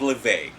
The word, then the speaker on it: Le Vague: It's called Le Vague. Le Vague. Le Vague. It's spelled L' and Vague is Vegue. Well, a lot of people think it's Vogue because Vogue is Vogue, right?